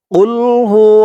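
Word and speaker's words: قل: দিয়ে দালকে ধরেছে আহাদ কুলহু আল্লাহু আহাদ কুলহু আল্লাহ দর্শক এরপর থেকে আপনারা সেই ভুলটি আর করবেন না বলবেন কুল কুল গলার ভিতর থেকে আওয়াজটা একটু ধাক্কা খেয়ে আসবে কুল কুলহু আল্লাহু আহাদ বাংলা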